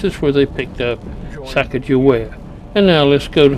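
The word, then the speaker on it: Sacagawea: Or is that really her name? Her name is Sakagewa. That's closest to how they phonetically recorded it. Sakagewa.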